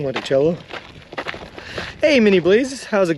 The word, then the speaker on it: Monticello: uh I'm going to spell the city of Monticello with an S the way they pronounce it gross foreign I'm doing